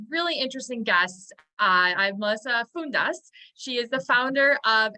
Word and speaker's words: Fountas: Yes, if we're in Greece, it's Fountas or Fouda, since I'm female.